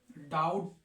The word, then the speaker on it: doubt: क्या जाएगा शाउट शाउट तो डाउट में हमने बी को क्यों नहीं पढ़ा क्योंकि बी साइलेंट है इसमें बी क्यों साइलेंट है एम के बाद तथा टी से पहले भी जो होता है वह साइलेंट होता है